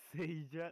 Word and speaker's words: Seija: Because, like, when it comes to, like, I just noticed you pronounce Seija like we in Spanish say chair, silla.